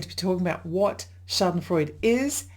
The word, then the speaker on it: Schadenfreude: Schadenfreude. Actually, I think the way it's pronounced correctly is Schadenfreude with a little at the end, but I just say Schadenfreude.